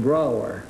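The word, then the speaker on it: Brougher: James Whitcomb Brower. Brower, huh? Yes, it rhymes with B-R-O-W-E-R.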